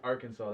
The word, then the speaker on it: Arkansas: if it's if it's spelled our kansas it's it's i think it's arkansas that's how you say arkansas arkansas yeah yeah man but they uh they spell it like our kansas or something like that